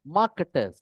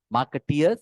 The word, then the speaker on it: marketers: hand l m m stands for marketers not marketeers that's the wrong pronunciation marketeers are like marketers